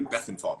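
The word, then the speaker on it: Bethlenfalvy: that when he's on just forget the l exists peter bethantov you say quick enough pronunciation you know it's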